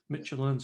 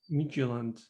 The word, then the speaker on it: Midtjylland: I've just found out it's pronounced Midtjylland. Midtjylland. Not Midtjylland.